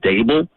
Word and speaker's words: Daboll: And I finally learned today that it's actually just dable.